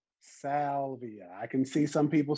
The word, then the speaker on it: Salvia: The first word is salvia.